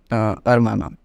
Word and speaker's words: hermana: Okay, with the same first rule, hermana.